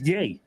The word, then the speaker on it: Ye: That is Yay.